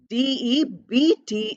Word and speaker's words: debt: Then we have a word like debt. DEBT is written, but we don't pronounce B. We don't say debt, we say debt.